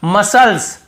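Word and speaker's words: muscles: यहां पर भी देखिए मसल्स मसल्स मसल्स यहां पे मसल्स नहीं पढ़ रहे यहां पर भी सी साइलेंट है।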